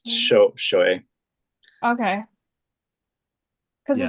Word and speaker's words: Shohei: When isn't it show high? Am I telling you show? It's Shohei.